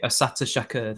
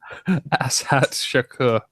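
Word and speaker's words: Assata Shakur: Asata Shakur, that's it. Well pronounced. Well, I assume that's what it is. Ashat Shakur.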